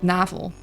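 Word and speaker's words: navel: Yeah, in Dutch you'd pronounce it navl.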